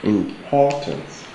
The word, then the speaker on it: importance: where is our stress the stress is on the second syllable importance importance that from Refuge